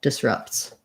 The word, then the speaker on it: disrupts: You have to kind of go right into that S from that T, and that continues. And then we have an I vowel in the first syllable, disrupts.